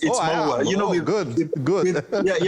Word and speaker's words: Maua: It's Maua. You know, good. With like African languages, you pronounce every word. It's Maua. You know, we don't have silence and all those other complicated things in other languages.